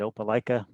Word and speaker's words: Opelika: and i just want to make sure i'm pronouncing it opelika is that good thumbs up got it right